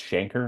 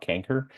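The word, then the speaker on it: chancre: of course is manifested with a Shanker and that's the way the word pronounced Shanker not canker uh and just remember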